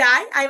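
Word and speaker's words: Ei: এটাকে মনেও রাখলেন যে হ্যাঁ, এবং ই যখন একসাথে বসবে তখন তার উচ্চারণটা হবে আয়ের মতো করে।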